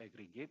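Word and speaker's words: AgriG8: a service agree git so agree G8 is pronounced aggregate aggregate is Singapore based company that provides a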